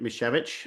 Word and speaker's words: Misiewicz: Um, and my name is Mishvich. Uh people do call me Mischief because it's easier to pronounce rather than mechavich.